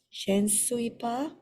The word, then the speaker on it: je ne suis pas: Instead of je suis pas, it's je ne suis pas. Pronounce. Oui. Oui, on prononce le N. You have to pronounce the N.